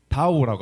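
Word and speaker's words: 倒: 그 이유가 무엇이냐를 생각 조사해 보면은 중국어에서는 뒤집어지다라는 뜻을 가진 단어의 발음이 다오라고 합니다. 그리고 도착하다라는 뜻을 가진 단어의 발음도 마찬가지로 다오라고 합니다.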